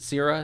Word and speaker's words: Cera: Is it Cera?